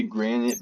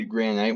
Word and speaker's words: granite: I normally say granite, but I always say granite whenever we're in the context of Minecraft to make it rhyme with andesite and diorite.